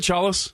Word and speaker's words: Chalos: know as soon as he starts speaking George Charles do I say right chalus that's right man I've heard it pronounced like 30 different ways when I so